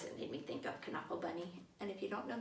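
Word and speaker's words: Knuffle Bunny: it is actually pronounced can uncle bunny I heard him interviewed it comes from the Dutch so they pronounced the K I thought about this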